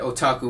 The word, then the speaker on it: otaku: to spell it with a English alphabet it's o t a k u and of course you pronounce it otaku pretty easy and basically um